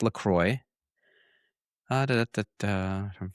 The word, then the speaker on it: LaCroix: LaCroix, pronounced LaCroix.